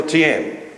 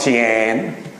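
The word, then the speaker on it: 天: is another name for Tian. Any Chinese people here today? Am I pronouncing this right? It's not Tian. That's how the Australians would say it. It's Tian. And Shang Di is another name for Tian.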